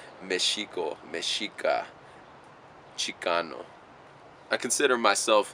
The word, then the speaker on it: Mexica: we were the Michiko they couldn't pronounce miss chica because there wasn't that sound in Spanish so they put an X through it son they started pronouncing it as Mexico you know miss chica